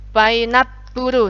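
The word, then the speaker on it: パイナップル: Di sini ada pu. Kalau ada huruf su kecil jadinya double pu. Puru. Painapuru.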